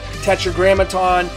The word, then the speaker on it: Tetragrammaton: Tetragrammaton, it's a five-syllable word.